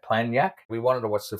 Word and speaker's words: Planjak: Yeah, the actual restaurant, it's spelled PLANJAK, so Planyak.